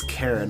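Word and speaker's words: Charon: introduced to Sharon and I think it's Sharon maybe it's Karen I've heard it pronounced Karen but I'm just going to call him Sharon Sharon whatever but apparently yeah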